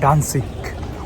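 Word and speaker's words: Danzig: গ্যাডান্স্ক জার্মানিতে আসলে এটাকে উচ্চারণ করে ডান্সিক, উচ্চারণ করে না, বলে আর কি ডান্সিক। আর যেটা হচ্ছে ইংলিশে গ্যাডান্স্ক।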